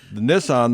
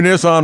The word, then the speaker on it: Nissan: on their vehicles really because in japanese the 2 is pronounced 9 and 3 is pronounced sen so therefore nice oh it's nissan and their son yeah